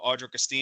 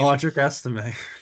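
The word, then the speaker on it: Audric Estimé: If it's, how do you pronounce his name? Travis Esteem, right? No, Audric Esteem. Audric Estime.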